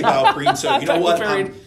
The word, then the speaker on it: BioPerine: They do refer to it as BioPerine. It is, okay. Yes. And I say BioPerine, so you know what?